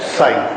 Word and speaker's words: psi: ठीक है, this is pronounced as साई। साई जरा डिफिकल्ट शब्द है, क्योंकि ये प्रोनाउंसिएशन हिंदी में होता नहीं है, इंग्लिश में भी नहीं होता है। एनीवे, तो ये स से बना हुआ है, स और च के बीच में साई।